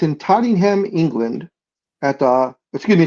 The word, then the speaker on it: Tottenham: Yeah, because I know it says it's in Tottenham, England at the Excuse me. It's in London, England at the Todd Tottenham Hotspur Stadium. Tottenham, not Tottingham. Tottenham.